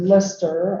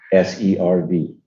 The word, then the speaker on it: Listserv: And we started Lister. I think lots of people don't know about, am I saying it right? Lister, right? yeah. Lister? Sir. Yeah. Okay, so spell that for me. LISTSERV.